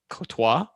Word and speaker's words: Comtois: The most interesting thing about the Ducks apparently is that someone in the chat said, Comtois, apparently the M is silent. So I don't even know how to pronounce it now. Cotois?